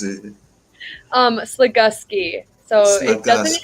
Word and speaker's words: Slagoski: Slagoski. So it doesn't Slagoski. have a U at all, but it makes like the Gus sound.